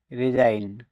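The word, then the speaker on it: resign: জি letter ডিলেন্ট থাকবে আর ই এস আইজি এন রিজাইন পদত্যাগ করা এখানেও জি লেটার ডিলেন থাকবে এল আইজি এন এলাইন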